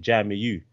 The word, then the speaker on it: Jamiu: so so for me they added a u that's just how they pronounce it jamiu but but growing up